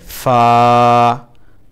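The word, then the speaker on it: فاء: তারপরে ফা, ফা, ফা বলার সময় আমরা যেমন ফ বলি, ফল, ফ, ফু, ঠিক তেভাবে এটা উচ্চারণ করতে হবে।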